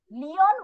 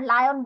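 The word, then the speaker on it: Leon: লিওন ওয়াজ এ lazy লায়ন। এখন এটার pronunciation কিন্তু কেউ আবার লায়ন বলো না, এটা প্রোনাউন্সিয়েশন হচ্ছে লিওন। এল ই তে প্রোনাউন্স হবে লি, তারপরে ও এন অন, লিওন।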